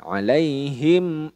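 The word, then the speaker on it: عليهم: dalam kategori izhar syafawi jadi mim sukunnya dibaca jelas tidak boleh di dengungkan alaihim Aan alaihim Aan Nah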